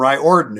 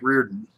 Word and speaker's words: Riordan: for dave stallworth from right orton and that and and i know that's not how that's pronounced that's mike reardon this i do know